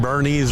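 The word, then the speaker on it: Boerne: We tell people weekend at Bernie's or Bernie.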